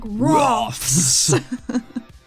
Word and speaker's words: Roths: So you gotta say it like a lizard, like Roths.